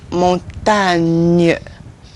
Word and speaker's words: montagne: Gne. Gne. This is montagne.